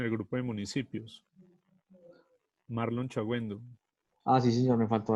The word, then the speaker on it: Chagüendo: Marlon Chagüendo. Ah, sí, señor, me faltó agregarlo. ¿Cómo se escribe su apellido? Chagüendo. Exactamente, con G y con diéresis. Chagüendo. G-U-E-N-D-O. Exactamente.